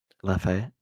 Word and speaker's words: Lafayette: The victims include 3 seniors from Ascension Episcopal School in, dude, I don't know how to pronounce that name. Lafayette.